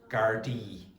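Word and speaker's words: Gardaí: Gardi. Okay. So gard is a singular and gardi is the plural.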